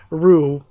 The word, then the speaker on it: Ru: But first of all, so it is Ru. After I said Ru, I was like, that does sound more familiar than Lou. But Lou, I was getting his name wrong.